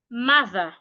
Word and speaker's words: mother: Ah, the letter O here makes this sound. Remember this sound again. Ah, do not open your mouth wide to pronounce it. Ah, mother, ma, not mother. Say mother, ma, mother. The TH, you need to put your tongue outside.